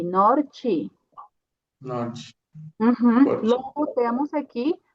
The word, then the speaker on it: norte: E aqui temos uma T, então a pronúncia vai ser Ti, norte.